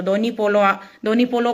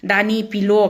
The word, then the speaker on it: धोनी पोलो: Video बनाते हैं, तो धोनी पोलो को भी आप लोग अच्छा से ढंग से प्रोनाउंस नहीं करते हो, दानी पिलो क्या क्या ऐसे आप बोलते हो। तो पोलियो बोल के भी एक यूट्यूब में मैंने वीडियो सुना है।